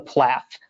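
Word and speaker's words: PLAAFP: we attorneys call it, the PLAF with a silent P.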